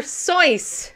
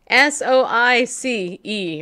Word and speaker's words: Seuss: Seuss, Yes. his birthday is coming up. It's not Seuss, people. It's Seuss. Soice or something.